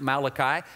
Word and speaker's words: Malachi: Book of Malachi and by the way it's pronounced Malachi I had one little boy in Camp several